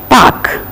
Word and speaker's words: park: Kite, lake, K in the final, park, K in the final, R is silent, pack.